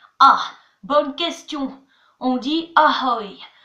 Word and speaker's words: ahoj: Alors attention, le J est muet. C'est comme si je disais ahoy. J fait 2 L dans ahoy. Donc ahoy, ça s'écrit A-H-O-J. Sauf qu'on dit pas ahoj, on dit ahoy.